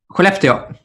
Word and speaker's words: Skellefteå: I'm being told that Skellefteå, how do you pronounce that, Nils? Skellefteå.